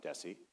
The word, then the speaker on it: Desi: Well, it is more S than Z and Lucy was always very careful to call him Desessie and Ares is more like Ares than Ares.